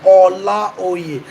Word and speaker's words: Olaoye: That's the original pronunciation, Olaoye. How many people from other tribes other than Yoruba tribe can pronounce it exactly the way I pronounce it?